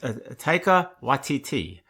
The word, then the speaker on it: Taika Waititi: It's pronounced Taika Waititi, who is a New Zealand director who has done Marvel movies, which means two things.